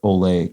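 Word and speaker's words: Olé: didn't a small thing eight down is not pronounced Coltrane but rather the Spanish word Olay Coltrane and now that you say it I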